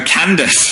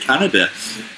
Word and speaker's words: Candace: Oh, Candace. I said it wrong. I said Canada.